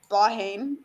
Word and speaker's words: Blythe Bogue: I think the pronunciation is Blaheen. Blaheen, that's it.